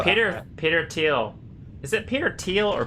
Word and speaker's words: Thiel: Peter teal is it Peter teal or Peter Thiel I think it's teals to you it's teal yeah it's pretty it's pronounced teal it's spelled thi L